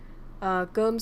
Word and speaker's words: cơm: And then this one, you can say it like you say this in French. Cơm, so this means rice.